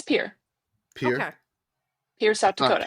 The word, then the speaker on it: Pierre: That's Oh, that's how you're supposed to pronounce that. That's You say it's Pier. Pier. Okay. Pier, South Dakota. Pierre.